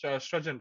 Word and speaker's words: Srajan: Am I pronouncing your name properly? Is this Srajan, right? Yes, yes, right.